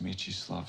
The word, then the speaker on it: Mieczysław: Jeff Davis acabou por revelar à Entertainment Weekly também de pronunciar, e por isso mesmo ficou Mieczysław. I have a son. His name is Mieczysław Stalinski.